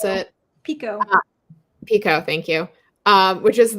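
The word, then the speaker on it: picot: So the binding says it Peacock, I don't know how to pronounce it. Pico.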